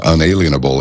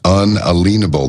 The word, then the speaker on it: unalienable: Everybody says unalienable. It's not, well, we're going to be alienated from our rights. Like, no, it's unalienable.